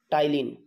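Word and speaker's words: ptyalin: समजून ला बरा इ हा जो प हा साइलेंट है टाइलिन याचा उच्चार हा प साइलेंट है त्याचा उच्चार करता टी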